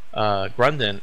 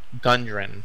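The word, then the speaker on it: Gundren: around town trying to find leads on where grunden our gun durin there we go we've been saying it wrong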